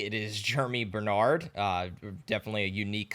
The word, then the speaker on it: Germie: It is spelled Ge Ri E. It is Jeremy Bernard.